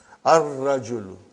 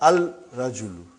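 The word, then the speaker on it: الرجل: Ar-rajulu. Huh? The man. Huh? Not al-rajulu. Huh? It will be wrong to say al-rajulu. It will be ar-rajulu. We won't pronounce lam. Why? Because it is a sun letter.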